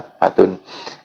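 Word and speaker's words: نكبة: Oh, maksudnya lafat nakbatun itu di fatkah nuni, jadi membacanya nakbatun.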